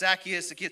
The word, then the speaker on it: Zacchaeus: I've heard it pronounced Zacchaeus.